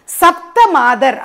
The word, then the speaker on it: சப்த மாதர்: இன்னும் ஒருத்தங்க ஹைலைட் பண்ணியிருந்தாங்க, சப்த மாதர் அப்படின்னு சொல்லணும். சப்தம் த அப்படின்னு சவுண்டு வந்ததுன்னா அது ஒலியை குறிக்கக்கூடியதாக இருக்குது, அப்படி சொல்லக்கூடாது.